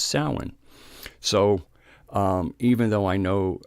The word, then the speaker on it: Samhain: Irish and Celtic words like salmon okay it's pronounced salmon so you go who's that SW Egan this the way they spell it is s am h AI and looks like Samhain but it's pronounced salen so even though I know that candle mouse